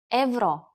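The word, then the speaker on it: евро: join the Euro Zone in Bulgarian euro is pronounced Evo you should ask your friends in Bulgaria if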